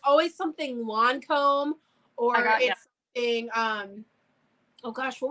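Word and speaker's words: Lancôme: Well, how do you pronounce it? I said Lancome. Lancome. It's Lancome, but I always say Lancome. Well, we're in the United States. I mean, we're not in France. We have a hard A.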